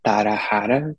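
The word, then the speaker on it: Tarara: In Portuguese would be Tarahara, because the R, it has an H sound. Oh. But in English would be Tarahara. So it's just the, like a repetition of the two last syllables of Tara. So Tarahara.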